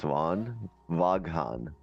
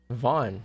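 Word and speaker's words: Vaughan: like are you guys good damn and you pronounce Von waghan oh my God Vaughn that's a that's a city in Canton Ontario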